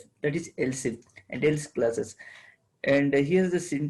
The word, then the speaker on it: elif: Yeah, but you should pronounce as else if only, but you have to write as elif only.